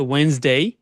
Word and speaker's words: Wednesday: ডিটা উজ্জ্ব থাকবে, হ্যাঁ, ডিটাকে আমরা হচ্ছে প্রোনাউন্স করছি না এখানে, ডিটা উজ্জ্ব থাকবে, তাহলে হচ্ছে ওয়েনসডে। Thursday, Friday.